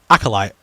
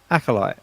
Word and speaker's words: Acolyte: How do you pronounce the show? Acolyte. Acolyte.